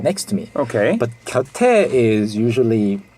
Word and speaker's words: 곁: Yeah, 곁. It's one syllable. Yeah, one syllable, simple word, 곁.